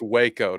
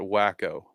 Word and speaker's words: Waco: in a second uh pronounced Waco not wacko thank you I I